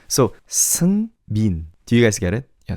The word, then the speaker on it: Seungmin: Yes, it's closer to M-E-A-N than M-I-N, if that makes sense. So, Seungmin.